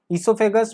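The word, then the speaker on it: oesophagus: ईसोफेगस में ये ओ जो है ये साइलेंट है, ये आप लोग याद रखिएगा।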